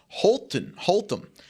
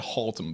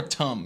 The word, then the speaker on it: Haltom: I think they pronounce that Haltom. Is it Haltom? Haltom, like a Hall Tom? Yeah. Hall Tom? Walking down the hall. I probably wouldn't emphasize the Tom as much. It's more Tum, yeah.